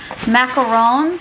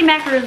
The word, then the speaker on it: macaron: cute look at these macarons i say it wrong every single time i always say macaroons people say i say one so i think it's